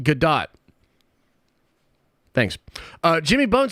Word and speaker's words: Gadot: Brandon de Lumpa says bruh it's pronounced Gadot thanks uh Jimmy bones